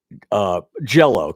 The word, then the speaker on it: Jell-O: word I can save the word jellow kids like that word jell-o well the gel is louder than the low jello i don't say